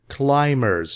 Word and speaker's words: climbers: climbers survived the worst be here is silent climbers not Climbers no climbers people who try to